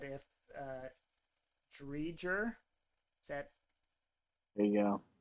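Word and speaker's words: Driedger: How did you just pronounce his name, Pat? Drydegar?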